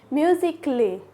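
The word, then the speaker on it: musically: वाई आता है तब भी क्या होगा ए साइलेंट होगा जैसे कि म्यूजिक ले म्यूजिक ले देखो म्यूजिक पढ़ा उसके बाद ले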